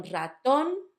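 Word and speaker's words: ratón: The first one, raton, it's on the last syllable.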